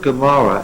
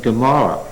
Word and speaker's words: Gomorrah: So that it happens that in Genesis 19 we had Sodom and Gomorrah with a G. Just traditional. It's an ayin. There it happens to be pronounced as a G.